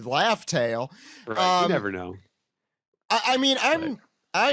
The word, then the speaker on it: Laugh Tale: and gold Roger exactly pronouncing this wrong it's supposed to be laugh tale never know I mean